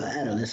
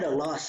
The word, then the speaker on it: Atlas: Yeah, Atlas, I said it right. Because I heard someone else pronounce it so differently the other day, it pissed me off. They said Atalas or something, or Atalis or something like that. Like it really pissed me off. Like I'm yelling at my YouTube, like that's not how you say it.